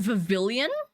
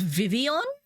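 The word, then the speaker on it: Vivillon: Um, and Vavilian was Vivian as in like the L's were silent, which like I kind of get the region's based off France, but like it's pavilion. What do you mean? You can't look at that word and just decide that L's are silent.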